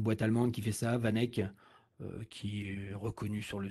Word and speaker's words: VanEck: Voilà, c'est une boîte allemande qui fait ça, Vanek, qui est reconnue sur le sujet. Vous pouvez aller sur leur site, ça s'écrit VANECK.